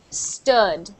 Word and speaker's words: stood: please St St so stud is actually pronounced like book we've got that same uh sound stood stood stood stood stood